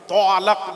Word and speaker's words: তালাক: একটা দেখাও তো দেখি তালাক না দেখো আল্লামা হুজুর কিতাব নিয়েছে আমাকে দেখিয়ে দাও তয় বয় আকার লক ল আকার ক তালাক তলাক তলাক নয় বাবা ওই তালাক এবার বাংলায় উচ্চারণ করছি